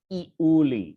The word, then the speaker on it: Iuli: So in the misfortune of little Euless, pawi, genitive, iuli. So just as a reminder, it says in scansion file, that is 3 syllables.